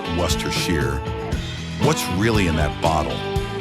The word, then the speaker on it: Worcestershire: It's Worester Shear.